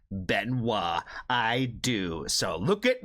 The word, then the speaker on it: Benoit: And I was like, "Yes, I do recognize the and how to correctly pronounce the name Benoa.